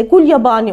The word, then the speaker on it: Gulyabani: Bizde de Gul Yabani olarak telaffuz edilir ve masallara, işte anlatılara korku hikayelerine yansır.